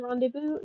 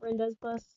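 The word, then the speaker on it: Rendezvous: So people it is rendevu not reinde bus.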